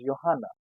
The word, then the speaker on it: Johanna: And if I talk about a girl's name, that is Johanna. So boy Johannes, girl Johanna. These two names start with J but is pronounced as Y.